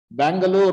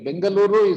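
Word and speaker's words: Bengaluru: the for it foreigners you know they cannot pronounce our names they all kinds of things they willart our names Bangalore you know all anged bangaluru is correct our local name is balur and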